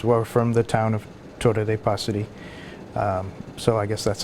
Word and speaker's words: Torre dei Passeri: Torre de Passeri. Okay, so you have to roll your R, first of all. I guess if you're... Torre de Passeri.